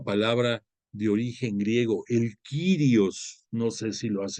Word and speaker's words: Kyrios: Hay otra palabra de origen griego, el Kyrios, no sé si lo has escuchado, Kyrios, como si fuera sirio, haz de cuenta, pero lo pones con K de kilo, Kyrios, pero lleva I latina.